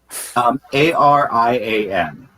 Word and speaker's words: Arian: Arian. Like avian, but with an R instead of V.